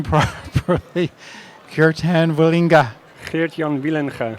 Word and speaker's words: Geertjan Wielenga: Geertjan Wielenga. Geertjan Wielenga.